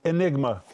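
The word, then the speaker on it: αἴνιγμα: The word darkly in Greek is pronounced enigma.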